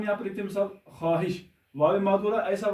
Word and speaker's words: خواہش: خواہش۔ واو معذورہ ایسا واو ہوتا ہے جو ساکت رہتا ہے، یعنی اس کی آواز نہیں ہوتی لفظ میں، جس کو ہم سائلنٹ بولتے ہیں۔ یہاں پر دیکھیں خواہش، تو جب ہم اس کا تلفظ کرتے ہیں تو اس طرح ہوگا خواہش، خ الف ہ شین، یعنی خواہش لکھا جائے گا ایسے، یعنی رسم الخط تو یہی ہوگا لیکن تلفظ یہ ہوگا۔ اس طرح خواب، خ